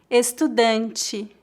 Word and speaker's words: estudante: Em final de palavras, a letra E é pronunciada como um I fraco, como em algumas palavras que já falei hoje. Ele, entre, estudante. Note que apesar de escrevermos com a letra E, nós pronunciamos I.